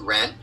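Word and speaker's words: 仁: Sometimes it's Jen, sometimes it's Ren, but in any event, you pronounce it Ren.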